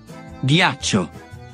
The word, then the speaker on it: Ghiaccio: Y para lograr la pronunciación G y G del español, hay que combinar G con H en italiano. Ghepardo. Ghiaccio.